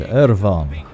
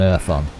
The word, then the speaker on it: Irfon: Find Irvon. Because it sounds much better if you use the Welsh pronunciation rather than Irfon. Because Irfon just doesn't sound...